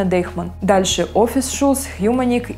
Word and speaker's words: Deichmann: Многие россияне произносят это как Deutschmann, но правильно Deichmann.